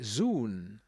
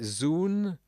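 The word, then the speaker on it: ζῷον: Zoon, Z2ON, des créatures vivantes. Ça pourrait se prononcer zoon, zoon, Z2ON. Comment prononceriez-vous cela? Zoon, je dirais zoon.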